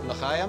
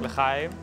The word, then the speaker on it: L'chaim: L'chaim? L'chaim. L'chaim.